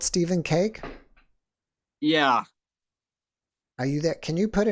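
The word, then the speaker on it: Kaake: You just do Stephen Cake, and that's K-A-A-K-E, not C-A-K-E. Yeah, right. Right? That's right. K-A-A-K-E. I know, it's not the C-A-K-E. one of those names that people don't know how to pronounce. Sometimes they say khaki.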